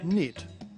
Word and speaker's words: knit: Notice that the word knit is spelled with a silent K.